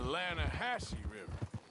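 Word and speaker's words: Lannahechee: rolled down to the Lana Hetchy River I caught some beautiful steelhead trout you mean the Lana Hasse no no no the Lana hacci it runs right near here yeah this pronounced Lana Hass why is everything in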